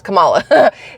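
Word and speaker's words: Kamala: I can guarantee you it was pronounced the way the Indian uh Community pronounces Cala yes there we go yes Camala anyway that's I saw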